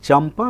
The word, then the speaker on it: चंपा: उसी प्रकार अगर हम चंपा में देखें तो चंपा में च के ऊपर बिंदी है और अगला वर्ण क्या है, प। तो प का अंतिम वर्ण कौन सा होगा, उस वर्ग का अंतिम वर्ण होगा म। तो म जो है चंपा में बिंदी जो है वो म का उच्चारण होगा।